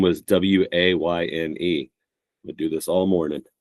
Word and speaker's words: Wayne: You mispronounced his last name, and his first name is Wayne, spelled Wayne. And for the first few years of knowing Wayne, I called him Wanye because just Kanye.